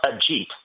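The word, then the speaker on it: Ajit: So the name is pronounced a jeet. A jeet.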